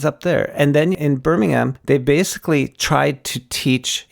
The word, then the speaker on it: Birmingham: i was up in birmingham then they don't pronounce the h so it's birmingham where here we would